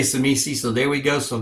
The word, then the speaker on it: Tzimisce: I am your host, the Water Dog, and today we're going to look at the Tzimisce. That's how I pronounce it anyway. I'm gonna make that T silent because Tzimisce, because pronunciation is not my forte.